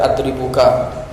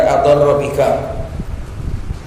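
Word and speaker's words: أضرّ بك: hatta ka'annahu yaqulu qad adarra bika. Itu ro sama ba itu harusnya dipisah, dikasih spasi supaya enggak dibaca adribuka. Ini kalau enggak paham bacanya adribuka, yang benar adarra bika.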